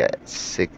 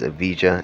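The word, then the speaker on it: Evija: right behind the sf90 at at 863 and directly behind that one is the first all electric hyper car with the Lotus AA I know it says aija it's actually pronounced a this car is absolutely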